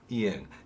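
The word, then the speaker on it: 이응: Eung's important because there are 2 very important pronunciations of this. When it's in the final position, it has some kind of sound. So it's as in song. But when it's in the initial position, at the beginning of a syllable consonant, there's no sound. So it's just ah here.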